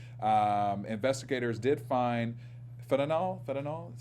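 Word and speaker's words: fentanyl: friend Kirk Johnson um investigators did find fanol fanol is how it's pronounced fanol um in bottles label bear and a aspirin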